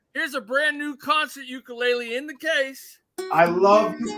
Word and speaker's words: ukulele: And remember, it's pronounced ukulele, not ukulele. That's the Hawaiian pronunciation, and it's not boxing related.